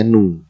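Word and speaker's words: ν: tulisnya adalah bukan Via ini bacanya nu nu nu nu kayak tapi ada ekornya jadi gitu nah mu ini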